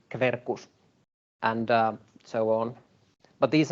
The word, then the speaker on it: Quercus: Or QU is pronounced Kv, so Quercus would be Quercus, and so on.